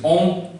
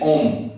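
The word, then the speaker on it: hommes: previous videos lessons that plurality does not affect the pronunciation of a French word. So to make it plural, I have added s, but its pronunciation will remain same. And the last is mute.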